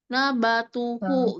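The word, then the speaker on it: نباته: Wau kecilnya itu dibacanya ketika wasal saja. Kalau waqf itu berhentinya di H-nya ya. Nabatuh seperti itu.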